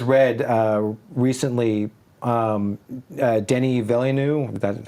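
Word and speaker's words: Denis Villeneuve: if you guys read uh recently um uh Denny villeneu is that how you say his name yeah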